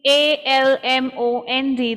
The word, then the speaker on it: almond: it and similarly in a l m o n d the l is silent it is almond almond yeah you don't